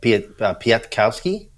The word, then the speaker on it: Piatkowski: I've just pulled him up so I could pronounce his last name probably, like Piatkowski. Yeah, that's it.